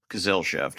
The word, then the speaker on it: Gesellschaft: feel like I'm going to mess up this pronunciation, but it's Tolkien um Gesellschaft? Gesellschaft, I think.